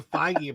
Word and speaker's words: Feige: I will never understand why Kevin's last name is not pronounced beige. It looks like beige. Does it? Kevin Feige pronounces it Feige apparently, but it looks like beige, so it should be beige.